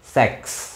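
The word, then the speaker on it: sechs: kalau di sini nggak kalau di sini itu bacanya mirip bahasa Inggris kalau bahasa Inggriskan six kalau ini tadi pakai seks Oke sex sex 6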